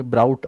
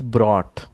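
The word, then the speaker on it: brought: स्क्रीनवर बघा या शब्दाचा उच्चार ब्राऊट असं करता नॉट ब्राऊट इट्स ब्रॉट ठीक आहे नंतर तुम्ही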